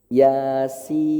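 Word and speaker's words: يس: Yasin, ya-nya di sini, sin-nya di sini. Oh, berarti kotretannya Yasin itu ya-nya di sini. Oh, 2. Sin-nya di sini. Oh, 6. Berarti cara baca Yasin yang benar Yasin.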